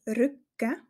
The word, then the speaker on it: Rücken: deutliche zu hören ist der Rücken der Rückgang der Rücken auch hier wenn Du Dich ganz gut achtest und ganz gut hinhörst hörst du dass eine kleine Pause vor dem G gesprochen